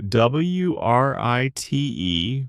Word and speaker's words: write: So, WRITE, write, is the action of putting words on paper or on a computer. I need to write an email. The W is silent, which can be tricky.